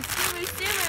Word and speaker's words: Tsum Tsum: Tsum Tsum. And Tsumu Tsumu is how they pronounce it in Japan.